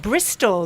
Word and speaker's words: Bristol: example of that but Bristol which is the biggest city near where I live in in England used to be called bristo BR it changed so it's now Bristol with an L on the end Bristol Bristol yeah but there